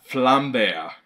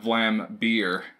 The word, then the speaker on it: Vlambeer: pronunciation is correct because as you can see it's a little bear and then there's a flame behind him so it's flam they're not Vlambeer as us Americans like